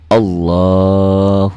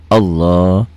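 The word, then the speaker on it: الله: belah tangan serta membaca Allahu Akbar ini kan sama ya seperti bacaan Quran kita pelajari ini lafaz Allahnya dibaca tebal Kenapa Allah karena sebelum lafaz Allah baris di atas tuh nyambung jadi semuanya makanya saya katakan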